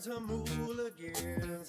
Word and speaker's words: Jamuligans: Jamuligans, spelled like jam, but sounds like ham.